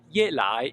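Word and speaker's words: 夜来: Now, Ye Lai is falling and rising, Ye Lai, and Ye Lai means the night come.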